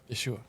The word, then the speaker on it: Yeshua: yesu yua you're right yosua Jesus is not his name Yeshua Yeshua um and they get you